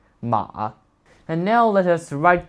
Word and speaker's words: 馬: However, despite its form having changed a lot over the centuries, its pronunciation has stayed the same, Ma.